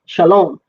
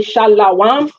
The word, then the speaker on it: shalom: Shalom. That's where we're getting shalom. So when people say shalawam, what they're doing is adding a vowel for the shin.